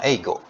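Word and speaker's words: 英語: Misalnya eigo.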